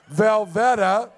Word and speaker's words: Velveta: You can catch their queer country band, Velveta, rhymes with Loretta, every fourth Sunday at the Riptide out on 48th Avenue and on Bandcamp.